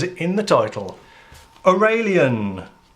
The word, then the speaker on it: Aurelian: review car review hello welcome it's obvious what the cards are it says in the title or a lien that is how it's pronounced because it's an English word these I think they're